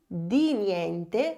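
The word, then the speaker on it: di niente: Você vai pronunciar com a língua entre os dentes. Diniente ou senão de nula de nula.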